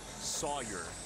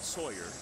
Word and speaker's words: Sawyer: By the way, if you hear us saying his name and you're like, why are you stressing the zone? His parents love Sawyer, not Sawyer.